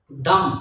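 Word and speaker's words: dumb: तो पहले शब्द है दम दी यू एम बी कम तो ये आप देखेंगे जब भी आता है तो वो हमेशा ही साइलेंट होता है तो आप देखेंगे दम है तो हम इसको दम पढ़ेंगे इसकी जो फोनेटिक ट्रांसक्रिप्शन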